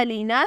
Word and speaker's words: ALEENA: नाम है अलीना, स्पेलिंग है ALEENA।